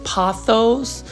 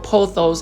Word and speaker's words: pothos: Please leave in the comment section again whether you say pothos as in P-A-W or pothos as in P-O, or do you just say epipremnum aureum?